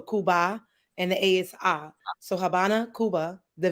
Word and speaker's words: Habana: and the ASI so Habana Cuba the V is silent which is a b I'm sorry the V makes the B sound so Habana Cuba so whatever you